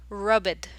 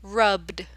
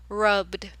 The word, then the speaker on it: rubbed: need to do is you need to combine the B and D sound put them together so it'll be like rubbed rubbed B so it creates